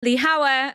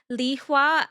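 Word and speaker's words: Lihua: of the concubine names, which is Li Hao and Li Shi, but their pronunciations are actually Li Hua and Li Shu.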